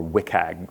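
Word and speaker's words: WCAG: what's called the web content accessibility guidelines or WIC hag that's how you pronounce the acronym for it it is a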